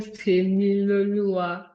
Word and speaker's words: Temiloluwa: How did you say I pronounce it? It is called Temiloluwa.